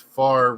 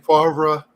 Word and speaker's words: Favre: It's you got to exhale, let it out.